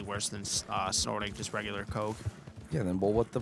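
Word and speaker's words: Koch: like, the two, like, Coke brothers, but I don't even know their names. There's Coke brothers? Yeah, but it's spelled K-O-C-H.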